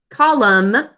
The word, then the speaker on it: column: Okay, pick up your pencil to write column and remember the silent N at the end.